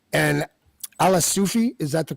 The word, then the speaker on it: Alaa Soufi: with hanging with extremists on the right and ala Sufi is that the correct pronunciation yes okay you have been uh associated